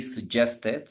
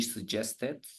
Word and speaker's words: suggested: When the verb ends in T, in this case, we pronounce the E, okay? Admitted, suggested.